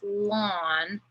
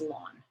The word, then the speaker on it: ln: said here it's pronounced lawn of x and you pronounce it like mowing the lawn but that's how it's